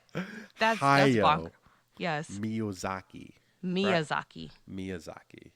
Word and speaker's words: Hayao: You pronounce his name. Hayao. Hayao.